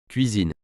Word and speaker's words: cuisine: Ce mot se prononce cuisine.